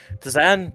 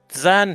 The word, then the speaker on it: Dzan: It's weird to pronounce this. Missing a vowel in there. Dzan, DZ, Dzan. Does that make that noise, Orlin?